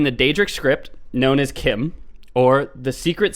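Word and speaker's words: CHIM: am all caps and one of the devs came out in in a forum post and said it's pronounced Kim alright well yeah like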